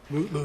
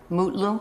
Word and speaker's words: Mutlu: Is it Metloo or Mutloo or how do you pronounce his last name? Mutloo, your honor. Mutlu.